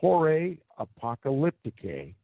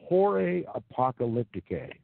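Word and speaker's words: Horae Apocalypticae: down and research that work for yourselves it's pronounced horray apocalyptic a and it is spelled hor AE a pee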